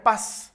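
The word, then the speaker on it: πᾶς: es una palabra que se pronuncia paz como mi apellido paz que está literalmente significa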